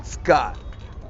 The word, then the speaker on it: Skjodt: There was a big, huge Hollywood teardrop on court 2 by great Skjodt. Is that how you pronounce the last name? Yes.